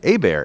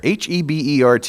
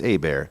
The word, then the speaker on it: Hebert: and that rhymes with Care Bear it kind of does I mean III give kudos to you serve for for pronouncing my name correctly a bear h-e-b ERT it's not Hebert it's not Herbert it's a bear I'm from Louisiana originally